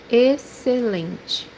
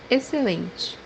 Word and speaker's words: excelente: táxi, táxi, The fourth pronunciation for this letter is pronounced as letter S in English when it's followed by a consonant.